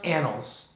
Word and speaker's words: annals: the annals of the king okay and it's pronounced annals but this will prove to be important later